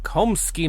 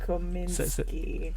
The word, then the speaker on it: Kominsky: The Komsky method. Kaminsky I method. said it wrong Again. God. How's it spelled? Kominsky.